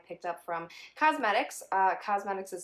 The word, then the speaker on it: Qosmedix: items that i picked up from cosmetics uh cosmetics is spelled q-o-s-m-e-d-i-x dot com and they are one